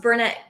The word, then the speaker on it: Burnett: Steve, yes, I pronounced Burnett correctly because if I didn't say it correctly, I would be well corrected by the people that I work with.